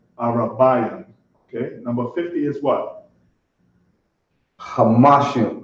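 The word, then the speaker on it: חמישים: Hamashim. Kamashim, right. Always remember to pronounce that ha.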